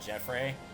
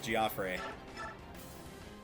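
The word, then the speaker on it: Geoffrey: yeah you get that one Health back gfre you don't take that crap from him also in case you're uh curious as to why I'm calling him giop and not Jeffrey or Jeffrey um there is voice acting in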